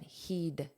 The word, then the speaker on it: he'd: Notice this pronunciation. Heed the heed. He heeded. A very soft d.